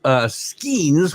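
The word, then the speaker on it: Skenes: So he's talking about Skeens, which is how he told me to pronounce this during the Major League Baseball update.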